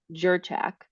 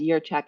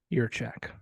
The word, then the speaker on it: Jurchak: your check now yeah so it's a j so everybody says jerchak right but but it's it's yeah pronounced as your check as it would be a why your check excellent yeah well thank